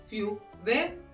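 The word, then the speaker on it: feu vert: French में क्या बोलेंगे फ्यू वेर फ्यू वेर in French green light will be फ्यू वेर अब देखिए यहां पे ग्रीन को क्या बोलेंगे हम where T will be silent okay next आता है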